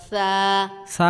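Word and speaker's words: ثاء: সা উচ্চারণের ক্ষেত্রে বাতাস বের হবে।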